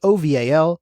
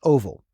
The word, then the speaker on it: OVAL: and ARF the first one we have is oval which is pronounced oval now oval is the open vulnerability and assessment